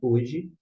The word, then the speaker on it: hoje: Homem começa com H. A palavra hoje, de igual modo. E o H não é pronunciado.